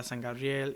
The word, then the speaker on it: San Gabriel: Gabriel, uh San Gabrielle. Yeah. So all the area. Well, St. Gabriel is San Gabriel, right? Right. Right. San is how you say it in Spanish.